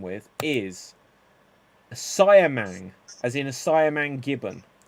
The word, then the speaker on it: siamang: rhyme with is a siamang as in a siamang gibbon a siamang gibbon so yeah I'll take wait are you saying Simeon no cyan it's not a Simeon how do you spell